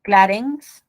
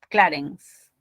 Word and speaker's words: Clarence: Clarence, No se tilda. no se tilda. Ojo, es una grave. Clarence. La sílaba tónica es esta, ¿no? Clarence. Es una grave, termina en grupo consonántico.